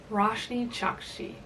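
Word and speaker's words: Roshani Chokshi: Roshni Chakshi.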